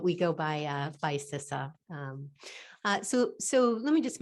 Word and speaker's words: CISA: needed to learn was how to pronounce the uh the name so it's cisa so so just want